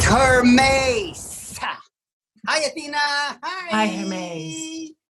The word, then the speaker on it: Hermes: Send for my messenger god Hermes. It's pronounced Hermes.